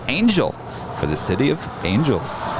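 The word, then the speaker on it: ANJLL: procedure for lax is a-n-j-l-l pronounced angel for the city of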